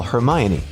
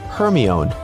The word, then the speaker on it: Hermione: Maybe you've said, "Siri, call Hermione." only for Siri to comply with calling Herion. Okay, you may not have